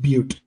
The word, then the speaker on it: Butte: It's pronounced Butte.